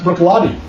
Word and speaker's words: Bruichladdich: We're going to enter, this is Bruichladdich, and for those of you that are not Scotch aficionados, if you see this crazy word, Bruichladdich, that's pronounced Bruichladdich.